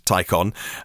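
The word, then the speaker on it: Taycan: on or take an it's spelt but it's pronounced to take on it's hitting the twelve point nine mile nordschleife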